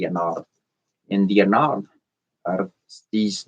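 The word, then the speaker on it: Ennead: They're the Anad. E N E A D. The Anad or some people say they pronounce it differently. I pronounce it the Anad.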